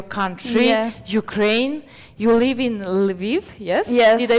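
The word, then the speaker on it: Lviv: Ukraine, you live in Leiv. Yes. Yes. Did I pronounce it correct? Viv.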